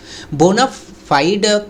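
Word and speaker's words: bona fide: बोना फाइड करके भी एक प्रोनाउंसिएशन है, लेकिन वो अमेरिकन प्रोनाउंसिएशन है, लेकिन जो लैटिन प्रोनाउंसिएशन जो होना चाहिए वो दरअसल बोना फाइडे होना चाहिए, ओके, वाइडी होना चाहिए।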